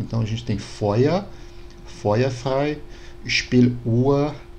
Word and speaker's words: Feuer: No alemão mais atual, seria como se fosse um A mais fraco. Então a gente tem Feuer, Feuerfrei, Spieluhr, Mutter.